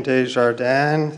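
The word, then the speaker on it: Desjardins: Mr GB uh Mr uh is it de dearden dearden uh the chair recognizes Mr dearden my name is de jardan it's spelled thease Dees no space capital j a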